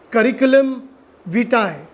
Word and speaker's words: curriculum vitae: okay the full form of the CV is curriculum vitae that's how you exactly pronounce it a lot of people mispronounce this